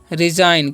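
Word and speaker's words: resign: इसे पढ़ते हैं हम लोग रिजाइन। क्या पढ़ते हैं, रिजाइन, ओके। तो यहाँ पर भी जी साइलेंट है, इसे पढ़ते हैं नैस।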